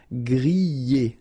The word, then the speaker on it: griller: Remember, er, because these are verbs here. Griller, pocher, éplucher, okay? You pronounce them E, okay? Even if you've got this R, okay? This combination of 2 letters, R at the end, will give you the sound E.